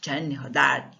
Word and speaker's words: Gianni Rodari: Gianni Rodari, italiano. Essa é a pronúncia de italiano.